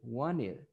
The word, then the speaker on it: wanted: That's why when you're saying this verb, you say wanted, no problem, but it is commonly said wanted. Yes, wanted, wanted, wanted. Why? Because the T is not pronounced, wanted.